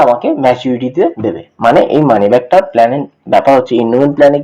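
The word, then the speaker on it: money back: তো এটা এটা অনেকে ভুল প্রোনাউন্সিয়েশন করে, মানি ব্যাগ বলে, তো এটা ব্যাগ নয়, এটা মানি ব্যাক, মানে আমি টাকা ফেরত পাচ্ছি।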